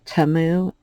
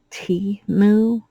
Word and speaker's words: Temu: trouble pronouncing things so I call it TAMU and it was pointed out that it's T moo and I just don't